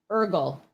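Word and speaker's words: Eargl: and he clarified that the last name is ergl so i will try to remember that ed ergle it's meredith pronunced learning the name night project zero guys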